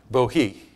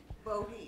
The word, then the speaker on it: Bohea: Bohea. Bohea. It's spelled Bohea. It's pronounced Bohea.